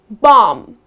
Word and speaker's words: bomb: goes silent let's see the first one bomb so many people when